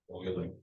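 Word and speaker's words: Euler: annoying this is pronounced Oiler Oiler Oiler is constant Oiler not uler Oiler because this is a German name feel like I spoken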